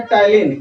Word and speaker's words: ptyalin: या तो इसी को टाइलिन बोलेंगे। और देखिए टाइलिन में पी साइलेंट होता है, PTYALIN लिखेंगे, टाइलिन इसको बोलते हैं। पी इसमें साइलेंट रहेगा, ठीक है।